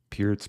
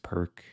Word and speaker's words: Pirc: Pirc perk. A lot of Americans say perk, but I think the C is pronounced differently. With c5, I can take.